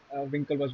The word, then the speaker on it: Winklevoss: I would say Winklevoss Brothers is the correct pronunciation.